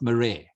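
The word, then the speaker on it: Marais: and that's m-a-r-a-i-s a-i-s eugene eugene and it's pronounced murray yeah nice okay so so here are two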